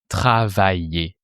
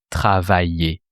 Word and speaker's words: travaillais: So you replace the ending by the E sound. So you have travailler. Tu travaillais.